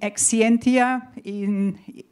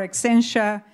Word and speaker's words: Exscientia: I'm not going to go in detail, but there is a company, Exscientia, if you pronounce it in European English, or Exscientia if you pronounce it in American English.